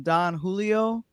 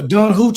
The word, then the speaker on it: Don Julio: gifted with uh some Don Julio tequila. You surely said it right cuz last night you said it wrong. Jay Jay, she was like, "No, Don Hoo."